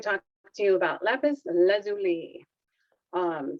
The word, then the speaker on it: lapis lazuli: talk to you about lapis lazuli um some people pronounce it lazuli if you want to make it sound a little more french um i know it is lapis lazuli and i'm going to